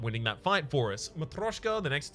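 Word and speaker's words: Matryoshka: Matroshka, the next 2 non-boss chests you open contain 2 relics. I've been informed that that was the correct way to say it, so I'm reverting back to that.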